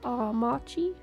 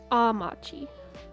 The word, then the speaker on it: Amachi: Instead of Amachi, it's like Amachi? Okay, okay. It's like a softer A. It's not my my little North America A. Amachi.